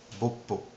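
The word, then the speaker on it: 뽀뽀: Bisou, en coréen, ça se prononce boppo.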